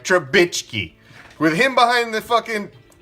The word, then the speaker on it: Trubisky: Yeah, I said it right, Trubisky.